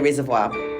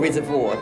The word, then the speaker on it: Reservoir: Over near Reservoir, or Reservoir if you're a Melburnian who pronounce things in a non-French way.